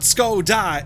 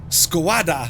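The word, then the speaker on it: Škoda: so many different ones it's not skoda it's squad what have we done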